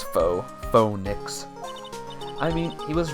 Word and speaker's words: faux: Fox, faux. Why is it spelled like that then? Meaning false, it's French. It's faux.